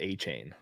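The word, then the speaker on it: Achane: I'm sure I don't even know how to pronounce his name. Is that A-Chain? I've heard A-Chain. They pronounce it a different ways. The official guide says A-Chain.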